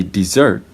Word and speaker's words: dessert: So when you say dessert, as you noticed, the first syllable is short and the second syllable is long. So this vowel is converted into a short. The first vowel is converted into a short syllable, the short E sound.